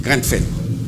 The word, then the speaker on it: Grenfell: Non, non, c'est pas Granem. C'est Grenfell.